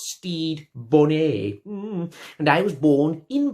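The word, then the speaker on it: Stede Bonnet: No, and my name, by the way, is pronounced Steed Bonnet.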